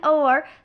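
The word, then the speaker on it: hour: क्या है एन हर अब यहां पे एच लिखा हुआ है लेकिन एच क्या है साइलेंट जब इसको हम प्रोनाउंस कर रहे हैं एन ओर तो स्टूडेंट्स ओ का साउंड आ रहा है ओ भी किसकी कैटेगरी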